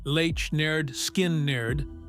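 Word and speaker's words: Lynyrd Skynyrd: Pronounced Lech Nerd Skin Nerd, an album title as stubborn as the band itself, hit the shelves.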